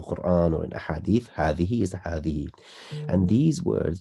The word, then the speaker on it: هذه: Now, hadhihi, just like hadha, it's supposed to be hadhihi. That's what it's supposed to be, but we don't actually write the alif. We pronounce it because it's implied.